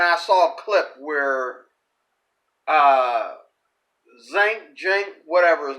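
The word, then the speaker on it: Cenk: I was watching the Young Turks, and I saw a clip where Jink, whatever his name is, okay, it's not pronounced the way it's spelled. It's spelled Sink, but that's not what it is.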